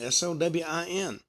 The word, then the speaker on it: Samhain: The origins of Halloween actually trace back, as I said, to the Celtic festival of Samhain, which actually is pronounced Samhain, Sowin, celebrated on October 31st.